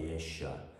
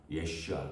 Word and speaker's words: 예슈아: 히브리식 발음은 예슈아입니다. 예슈아. 여호수아. 예수. 이게 다 예슈아 같은 이름이에요.